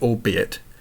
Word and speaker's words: albeit: The archaic word, albeit, does not rhyme with 8, you see it.